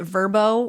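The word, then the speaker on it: Vrbo: And honestly, the fact that Verbo wants me to pronounce it Verbo when it's literally an acronym full of straight-up consonants is pissing me off.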